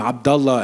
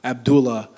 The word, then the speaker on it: Abdullah: the Dearborn Community it's me saying my name Abdullah and not Abdullah it's all these things